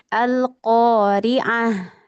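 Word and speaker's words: القارعة: lafaz atau kita wakaf seperti lafaz tadi kita baca alqoriaah ya kan padahal bacanya tu tapi karena dia tak marbutah maka menjadi huruf ha begitu.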